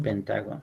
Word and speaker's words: pentágono: el área de un pentágono creo que lleva acento en pentágono así creo creo que sí